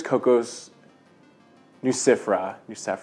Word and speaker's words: Cocos nucifera: But I'm so sure it's Cocos nucifera.